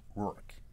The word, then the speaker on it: Roark: Because Roark is pronounced Roark. Yep. Like Mickey Rourke.